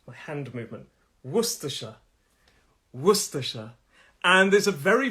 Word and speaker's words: Worcestershire: the actual last syllable there's three syllables and the first syllable is where the stress is worcestershire it's my hand movement worcestershire worcestershire and there's a